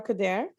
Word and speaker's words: Khudhair: faculty hi everyone my name is coder i'm from factor in wentache faculty of social